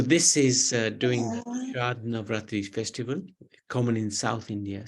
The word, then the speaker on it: Navratri: Navratri.